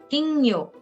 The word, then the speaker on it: 金魚: And you pronounce it gyo. So for goldfish, it is 金魚、 kingyo.